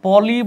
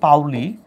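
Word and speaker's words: Pauli: আরটা হচ্ছে পলি বলা হয়, বাট আসল উচ্চারণ হচ্ছে পাউলির বর্জন নীতি।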